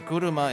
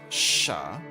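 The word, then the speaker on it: 車: this is correct so kuruma is this it also mean it can also be pronounced as Sha this can also be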